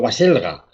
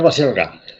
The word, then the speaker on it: Baselga: Ya casi no me atrevo a pronunciar tu apellido, Baselga, ¿no? Baselga. Sí, tú piensa en Basílica. Y ya está.